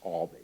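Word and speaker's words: Albee: was also they were alz and he obviously pronounces her Alby and he will correct you if you mispronounce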